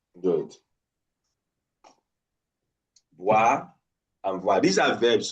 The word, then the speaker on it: boire: B and what? V. B, V. Boire. That's occlusive. Voir. That's what? Fricative.